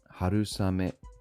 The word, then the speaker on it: 春雨: Harusame, spring rain. Note the pronunciation for rain becomes same. This happens a lot with the rain compound words.